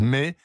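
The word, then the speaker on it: Mey: Eh bien, pour le savoir, plongez dans ce prodigieux et rudissime roman de Louise May. Ça s'écrit M-E-Y, ça s'appelle La deuxième femme.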